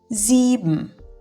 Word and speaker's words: sieben: Sieben. Siedem. Jeśli S stoi na początku wyrazu lub między dwiema samogłoskami, wymawiamy je jak nasze z.